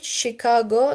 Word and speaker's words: Chicago: Machine, cliche, Chicago. They are pronounced with sh.